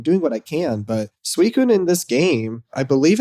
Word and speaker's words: Suicune: So I was struggling really hard with Suicune here, especially with just the 10 balls.